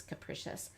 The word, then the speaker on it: capricious: Some people do pronounce this capricious. The letter I is making a long E sound here.